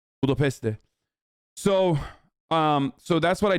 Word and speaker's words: Budapest: Kudos for pronouncing Budapest like a pro. Budapeste.